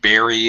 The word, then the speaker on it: bury: Decide to bury it in the garden. Bury it. It has a. This is a word that does not sound the way it's spelled at all. It has like an A sound.